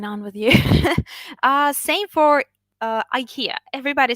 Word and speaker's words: IKEA: Even though I do come from Germany, and yeah, people say IKEA here, but IKEA is how the American world says it.